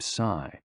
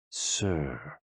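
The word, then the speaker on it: 呬: shh, with a deep sigh, which is associated with the liver. HE, pronounced like her, with a yawn, which is associated with the heart. SI, pronounced like sir, with a slow exhale, which is associated with the lungs.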